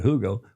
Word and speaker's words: Hugo: And we went to the Hugo Boss Yeah, Hugo you would say in the West, but Germans pronounce it Hugo.